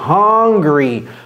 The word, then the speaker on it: hungry: angry c'est pas non plus hungry non c'est hungry hungry qui est différent de d'être en colère